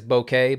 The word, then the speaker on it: bokeh: You can create bokeh balls with light sources, and yes, I think the proper way to say it is bokeh, but I like bokeh, so I'm sticking to it, bokeh balls.